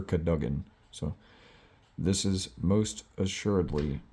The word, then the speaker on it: Cadogan: Despite rumors to the contrary, possibly started by Sir Cadogan, or Sir Cadogan, however that's pronounced. I've heard him in the movies pronounce it as Sir Cadogan, so this is most